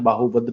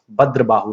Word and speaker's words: भद्रबाहु: कई बार यहाँ पे बाहुभद्र भी लिखा होता है, बाहुभद्र सही प्रोनाउंसिएशन नहीं है, सही है भद्रबाहु ने।